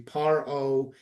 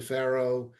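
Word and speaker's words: פרעה: to see Pharaoh, and at times we're going to see Paro. In Hebrew, it's the same word, it's just pronounced differently based on some oratorical reasons. So this is what they said to Pharaoh, Ki lo chanashim hamitzriot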